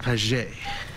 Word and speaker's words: Padgett: both ways mr padgett it's pronounced paget i've heard it both